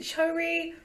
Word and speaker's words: Choerry: So the girl is called, right, it's spelled Choerry but with an O Oh, before no, the E. So it's like Choerry. Choerry. We're gonna go with Choerry, Choerry. I think Choerry. Choerry makes more sense.